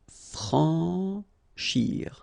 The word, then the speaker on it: franchir: Remember, C and H together. Sh. Franchir. A-N, en. Franchir.